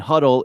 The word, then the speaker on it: Hudl: Just do a Google search for George Johnson Huddle, Martin County, and Huddle is spelled Hudl.